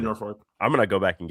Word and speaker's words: Norfolk: It's Norfolk. There's no R in the second half of that word.